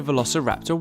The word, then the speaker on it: Velociraptor: Velociraptor.